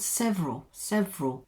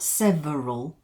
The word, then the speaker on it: several: Look at that word, several, not several, but several.